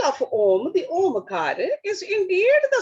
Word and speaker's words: Om: Because that is respectively is in the syllable Om.